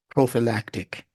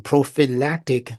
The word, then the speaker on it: prophylactic: part of that word the p h y which is actually pronounced as an F I F practic see